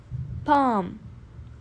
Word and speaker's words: palm: hands number ten bomb palm L is silent bomb number eleven belly